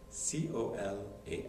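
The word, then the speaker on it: Colas: a little boy and his name is Cola c o l a s but you not pronounce the S Cola so the older sibling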